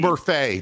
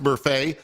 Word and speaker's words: Murfee: Mein Gott, Brash, Topo Gigio, Topa, JB Bukakis, and Murphy, spelled Murfee. It's Murphy. Do you know that it's actually pronounced Murphy?